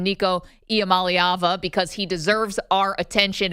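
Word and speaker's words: Iamaleava: because we've all finally learned how to correctly pronounce the quarterback's name Nico IAM malava because he deserves our attention and our respect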